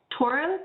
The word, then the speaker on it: Toro: how do you say your last name again toro t-o-r-o okay mistar would raise your right hand